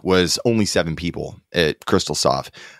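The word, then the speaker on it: Xtal Soft: effects and this was developed by the company crystalsoft but it's spelled xtal so we're just going to call it crystalsoft because extersoft just doesn't sound right well and then the japanese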